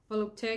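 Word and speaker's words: Volupté: and the notes it's i think it's pronounced volupte by oscar de la renta volupte because it has an accent over the e i don't know that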